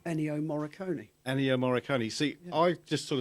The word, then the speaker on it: Ennio Morricone: You know, how do you pronounce his name? Ennio Morricone. Ennio Morricone.